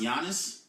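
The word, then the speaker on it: Giannis: pointy honest its beloved it's pronounced yiannis first time that was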